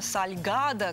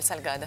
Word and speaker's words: salgado: когда называется это выпечка сальгадо какое красивое слово logosol сальгадо так на распев можно произносить прям звучит потрясающе есть много вариаций сальгадо